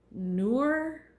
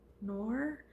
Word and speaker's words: Nour: But this is just, it's called the, I don't know how to pronounce it, Nour hats. Nour.